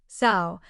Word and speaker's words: sow: Also, the word sow has 2 pronunciations. One meaning is a female pig, as in the sow has 5 piglets, and it sounds like sow.